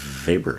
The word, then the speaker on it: Weber: It's spelled Weber, but it's pronounced Weber, like Wagner.